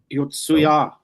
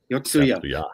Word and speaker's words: Yotsuya: Ysuya Yotsuya. Uh, well, we've talked. No, you were right. I put a wrong salable. The emphasis on the wrong salable.